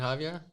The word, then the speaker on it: Javier: guy's name right Javier is it Javier yeah that's well that's how you'd pronounce it in a sort of North American accent yeah or Javier there you go I mean